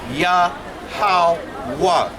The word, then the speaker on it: Yahweh: So it would be pronounced Yahweh. Because Yeah, but the ha at the end is kind of silent, but it's Yahweh.